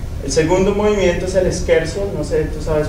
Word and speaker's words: scherzo: El segundo movimiento es el scherzo, no sé, tú sabes pronunciarlo mejor que yo.